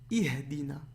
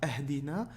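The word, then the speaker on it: اهْدِنَا: Ensuite, Ihdina. I. Ici, vous vous rappelez le livre de liaison qu'on a vu? Ben ici, c'est I. D'accord? C'est pas Ahdina, c'est I. Ihdina. D'accord? Il se prononcera I.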